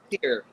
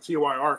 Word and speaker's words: Tyr: Is it Tier or Tire? It's Tier. Tier. I always called it TYR because it was capitalized, but I love that album.